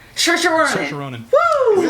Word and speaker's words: Saoirse: Saoirse Ronan. Saoirse Ronan. Woo! Saoirse Ronan? Yeah. I believe it's Saoirse, but her name's hard to pronounce.